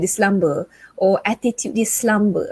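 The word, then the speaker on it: selamba: it the english way s-l-u-m-b-e-r the malaysian way or is it the malay way s-e-l-a-m-b-a slumber slumber even the pronunciation is slightly different so when we say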